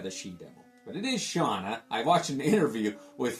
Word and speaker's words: Shanna: As a young reader 20 years ago when this came out, I always said it as Shaina the Sheevil, but it is Shauna.